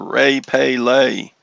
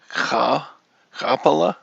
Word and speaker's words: Rapala: Rapala, or Ray Pay Lay. Rapala. The R is pronounced Rapala.